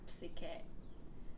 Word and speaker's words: Psyche: of them do, because the Greek pronunciation, you pronounce the P like psyche.